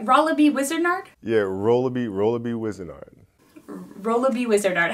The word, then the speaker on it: Rolabi Wizenard: Yeah, Rolabi Wizenard.